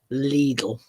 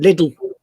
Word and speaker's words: Lidl: And that's how it's pronounced. Lidl. Lidl, as in Lidl.